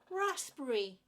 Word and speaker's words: raspberry: caramel caramel well done raspberry raspberry so it's not raspberry it's not raspberry raspberry raspberry again three syllables in that word Rasberry raspberry you try